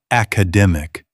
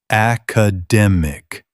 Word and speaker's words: academic: Not academic. Say academic. Stress on the third syllable.